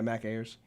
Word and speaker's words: Mac Ayers: Is that how you say his name? Yeah, Mac Ayers.